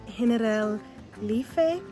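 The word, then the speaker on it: Generalife: They have um Henel Lee. It's spelled like general life, but that's not how it's pronounced.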